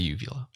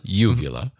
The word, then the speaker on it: uvula: all right so Ben I would also say uvila no no I what does it I like